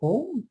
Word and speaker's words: Om: Effectivement, là, les termes sont les suivants, là, je les ai prononcés, mais dans un cas, c'est OM et dans l'autre cas, c'est AUM. Je crois que les deux se disent.